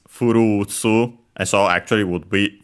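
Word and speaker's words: フルーツ: Funny enough, just like well, in Japanese also the word furutsu, with a long ru, it comes from fruit, the English word fruit. But clearly in pronunciation it's furutsu, and so actually would be fruits.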